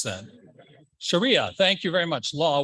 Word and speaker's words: Sharia: Islamic sharira let's try it again she how do you pronounce that Sharia thank you very much law was suspended by